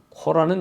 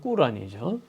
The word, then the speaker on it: 꾸란: 해서 이제이 고라니 탄생되는데요 코라는 영어식 발음이고 꾸란이죠 그래서 오늘 그 내용